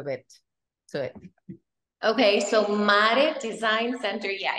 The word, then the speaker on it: MARE: Is it MARE? Is that how I would pronounce it in Spanish? MARE, right? MARE Design. In English, it would be MARE, which is very weird, but like MARE, how